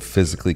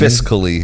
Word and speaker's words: fiscally: Fiscally. Oh, yeah. said I always say physically. that. Yeah, I say it wrong.